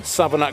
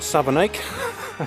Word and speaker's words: Savernake: I'm currently in Savernake Forest, or Savernake, whichever way you want to pronounce it. The locals call it Savernake, even though it's written Nake, Savernake.